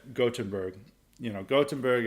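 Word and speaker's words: Göteborg: like gottenberg you know gottenberg it's like the proper way of pronouncing it I didn't realize this they don't pronounce the G they pronounce a g very differently in Swedish than versus German uh anyway gottenberg is like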